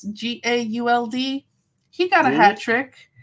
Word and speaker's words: Gauld: I think it's pronounced Ryan Gould, but it's Gauld.